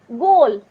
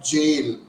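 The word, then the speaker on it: gaol: g a o l goal g a o l g o no it's g a o l g a o l go is g o a l this is another spelling of jail g a i l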